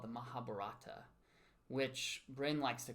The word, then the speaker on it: Mahabharata: correct me and say, it's the Mahabharata. So I may say... I don't know if I say it like that. Okay, somebody corrected me. I think you corrected me. But well, it's just, you just have to say the BH with some emphasis, with some oomph.